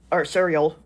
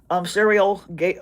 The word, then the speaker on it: Sariel: and the remaining names are Uriel, Raguel, Raphael, Sariel, sorry, mentioned that name wrong, Sariel, Gabriel, and Remiel, who in the Book of